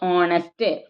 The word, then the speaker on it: honest: H is a consonant letter, but pronouncing with the vowel sound only.